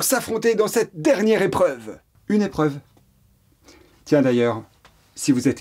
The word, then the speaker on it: épreuve: Une épreuve. Très bien. Une épreuve. Ça s'écrit E, accent aigu, P-R-E-U-V-E.